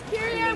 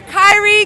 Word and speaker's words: Kyrie: you my name is kir one love spelled like the basketball player Kyrie k y r i e one love and I'm